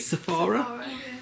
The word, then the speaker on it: Sephora: Sephora?